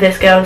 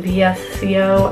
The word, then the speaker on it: VSCO: some people pronounce it visco some people pronounce it VSCO I pronounce it visco and this app is